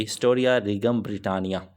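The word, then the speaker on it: Historia Regum Britanniae: इसकी जो प्रोनाउंसिएशन वो यही बनेगी, हिस्टोरिया रीगम ब्रिटानिया। और आखिरी जो राइटर है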